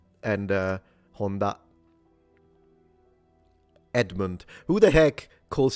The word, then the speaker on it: Honda: If you're interested the pitch is low to high so it's Honda rather than Honda because I notice a lot of people say Honda. It's Honda even when they know how to speak Japanese. Not a big deal. Pitch is not like the most important thing ever but if you're curious the pitch is low to high.